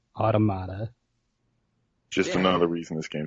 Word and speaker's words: Automata: hate the fact that the game confirms your pronunciation do you know it says it once and you are correct it's automata just another reason this